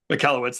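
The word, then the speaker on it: Michalowicz: it in the book Profit First by Mike Malowitz, I think is how to say it, right? It's a Yeah, Mallowitz.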